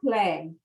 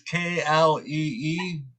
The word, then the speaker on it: Klee: Well, Paul Klee. You pronounce it Klee. Klee? Yeah. It's Klee.